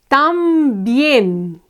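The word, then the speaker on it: también: we have tambien okay the word ends with an N so we would normally we would expect to be accentuated to be the stronger syllable however it's bien the last syllable is the stronger one here so we need to put tilde on E okay normally we would expect the accent to fall on the penultimate syllable but it's really on the last one so the last syllable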